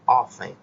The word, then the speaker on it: often: Esse segundo advérbio de frequência aí, ó, often, tem um T, mas você não pronuncia o T, é often.